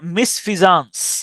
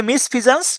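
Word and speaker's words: misfeasance: মিসশি এভাস ইভি ও ইউ এস তাহলে মিসশি Eva's মিসভাস মানে হচ্ছে ক্ষতিকর হারমফুল এরপরের শব্দ হচ্ছে মিসফিজানস মিসফিজানস মিসফিজানস এমইস মিস এফিয়া মিসফিয়া সানসে মিসফিয়া সন অথবা সান্স উচ্চারণ করতে পারেন সান্স মিসফিয়া সানস মিসফিজন্স মানে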